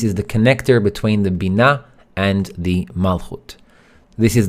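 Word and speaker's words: בינה: now the second word Bina we mentioned that BINA so it's pronounced Bina say it with me and it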